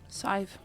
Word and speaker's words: Sadhbh: Sadhbh. Sadhbh?